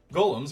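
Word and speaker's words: GAULEM: DM much to surpris this ends up being pronounced like Golem anyway on a side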